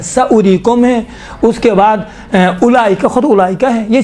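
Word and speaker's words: أولئك: آپ کو پتہ ہے 6 الفاظ ایسے الفاظ ہیں جہاں پر واو لکھا ہوا ہے لیکن پڑھا نہیں جاتا ہے، انہی میں سے ایک اولئک ہے۔ اب دیکھیں اولی، اب یسرن القرآن پڑھاتا وقت کیا الف واو پیش او لام یا ذلی، میں نے خود سنا ہے اولی، بابا اولی ہے، واو نہیں پڑھا جاتا ہے، یہاں سائلنٹ ہوتا ہے۔ اولی، اولائی، اولائی لکھا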